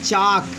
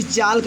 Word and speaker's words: chalk: ये देखिए ऐसे ही लिखा है चाक, CHALK, इसे आप भूलकर भी चालक मत कहिएगा, चाक। यहाँ पे यल चुप रहेगा, यल साइलेंट है।